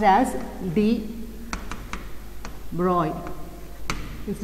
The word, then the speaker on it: de Broglie: is actually pronounced as de Broglie, it is not Louis de Broglie, it is the French name, but we say as de Broglie.